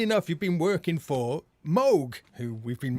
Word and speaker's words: Moog: And, and funnily enough, you've been working for Moog, who we've been mispronouncing. You mean Moog?